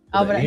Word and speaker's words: Abraham: But yes, you guys, thank you so much, Abraham or Abraham in español. Abraham? Abraham. Abraham. Abraham. No, we don't. The H is silent, right? Silent. Abraham.